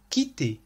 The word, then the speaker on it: quitté: ولاحظوا أن صيغة الماضي والمصدر يلفظان بنفس الطريقة quitter quitté. وهذه ميزة أفعال المجموعة الأولى في الماضي. والسبب هو أن نهاية أفعال المجموعة الأولى ER تلفظ E تماما مثل الحرف E accent aigu.